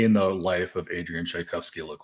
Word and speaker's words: Tchaikovsky: the life of Adrien shikovski look like and am I pronouncing that right yes yes so yeah pronounced like like the composer um so on average